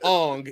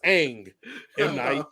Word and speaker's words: Aang: his name is Mario it's not Ong it's Aang it's not right his